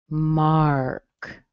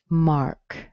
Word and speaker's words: Mark: How about Mark? Mark. The AR in here does have an ah sound. Mark. Mark.